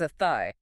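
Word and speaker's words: Athy: It's not a, it's, it's a thigh. A thigh, just like the body part.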